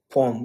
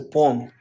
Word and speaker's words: poem: Okay, it's not poem. It's a poem. I wrote a poem poem. That's a poem. It's a two syllable.